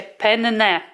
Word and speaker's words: penne: się wymawiają Powiedział że rzeczywiście wymawia się penne czyli przez dwa n także Zwracam honor żeby